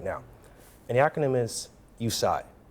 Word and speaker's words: USIGH: And the acronym is USIGH. Spell it. The letter U and the word sigh, S-I-G-H.